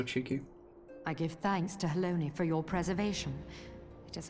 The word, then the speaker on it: Halone: I give thanks to Haloni for your preservation. It is our sole cause for gladness. Haloni? The entire time? Not Halone?